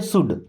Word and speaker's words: should: शुड में एल होता है साइलेंट, इसको शुड नहीं पढ़ते, क्या पढ़ते हैं? शुड।